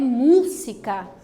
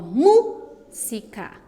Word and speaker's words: música: Veja que a palavra destacada agora é música. E da mesma forma que cuéntame, a antepenúltima sílaba é a mais forte. Ó, música, música.